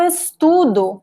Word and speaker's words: estudo: So, present tense, the second to last syllable is stressed. Past tense, the last syllable, and we have two vowels. So, the stress is on the second to last vowel, ok?